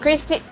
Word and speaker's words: Christy Ng: Chrisy ang daw ang ang pronunciation dito.